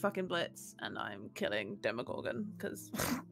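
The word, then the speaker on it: Blitzø: would kill um Bliss blisso their name is pronounced uh Blitz or blitzo it's Blitz kind of they're already in hell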